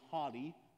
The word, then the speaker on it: haughty: for the longest time i say like as hottie like don't be a hottie but that's that's not what that says don't be haughty pronunciation matters but anyways don't be